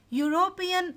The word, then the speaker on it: European: European is not American. Now you are not getting here U sound. It is Y. Y sound you are getting.